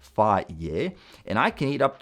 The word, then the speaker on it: Fage: My favorite one is Fage 0%, apparently pronounced Fage, and I can eat up to 16 oz or 450 g with berries and nuts as my first meal.